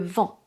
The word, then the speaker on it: vent: Donc, ce n'est pas le "veeen", ce n'est pas le vin, ce n'est pas "le vent". Non, le "vin" et le "vent" sont deux mots constitués de voyelles nasales.